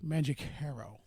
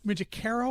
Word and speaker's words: Mangicaro: Mangicaro or Mangicaro? You know, it depends on what part of my family you ask. Ha! I like that. Growing up, it was Mangicaro, but in Italy, it's pronounced Mangicaro.